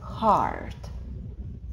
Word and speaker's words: heart: Сердце читается heart. Heart. Несмотря на странное буквосочетание, которое должно совершенно по-другому читаться, нам нужно просто запомнить heart.